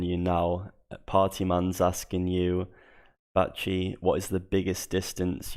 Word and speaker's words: Bachi: It's called Bachi.